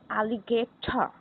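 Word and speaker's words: alligator: हम इसको प्रोनाउंस किस तरह करते हैं? एलिगेटा, एलिगेटा।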